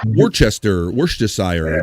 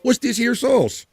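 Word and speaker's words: Worcestershire: I've heard some people call what's this here sauce? That's what we say in Bulmer. Not worst this year.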